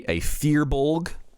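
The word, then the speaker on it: Firbolg: But I am a Fearbolg, I believe it's pronounced, which is kind of like a hippie troll-looking thing.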